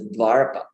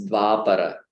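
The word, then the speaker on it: Dvāpara: heard it pronounced as Dvarapa. Dvarapa. I'll type it. Dvarapa. The Dvarapa Yuga. I was like, what? Why? We just totally, shifted the places of the syllables. So it's Dvapara, yeah, not Dvarapa.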